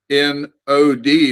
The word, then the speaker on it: Nod: The word would be shall we say, it'd be better to transliterate it N-O-D with a long O in it. Nod.